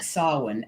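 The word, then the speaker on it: Samhain: Ally about Sam Hein how do you get Solon out of samheim yep but that's the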